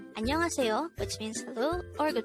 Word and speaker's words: 안녕하세요: Annyeong Haseyo, which means hello or good morning in Korean. This expression could be divided into two parts. Annyeong Haseyo.